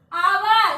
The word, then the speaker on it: hour: H is the consonant letter but sound is hour. H is silent in this place. O. Hour.